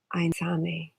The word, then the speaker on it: Aintzane: with Aintzane.